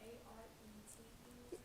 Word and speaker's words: arete: The A-R-E-T-E? Yeah, arete. I'm assuming that's how it's pronounced. It's Greek, not French. If it was French, it'd be like, you wouldn't even pronounce half of it.